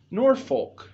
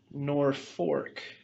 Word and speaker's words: Norfolk: story you know that the name of this town is not pronounced nor Folk it's pronounced nor fork and there's a story